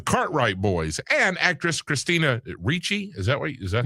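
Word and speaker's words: Ricci: The head of the Cartwright Boys and actress Christina Reachi. Is that what is that how you say it? Reachi.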